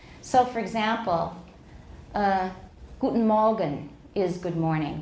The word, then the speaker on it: Guten Morgen: But this is the way Germans usually say it. Guten Morgen. Guten Morgen. Guten Morgen. Yeah, just about anything ending in a nasal in German with an obstruent before it will turn into a syllabic nasal at the end.